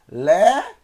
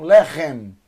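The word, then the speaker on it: לחם: Eu tenho 2 sílabas, tá? Então eu tenho Lechem, Lechem, Lechem, Lechem, Lechem, Le, L, mais E, Le, Het, mais E, mais M, tá vendo?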